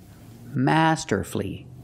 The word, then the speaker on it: masterfully: played the guitar masterfully masterfully three syllables don't pronounce the U he played the guitar